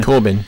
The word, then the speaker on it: Corbijn: Is it Corbin? Corbin. Corbin. Anton, okay. Corbin, yeah. But it's spelled Corbijn.